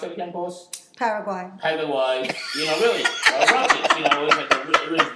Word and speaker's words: Paraguay: No, the Megadeth show in, how do you pronounce it again, boss? Paraguay.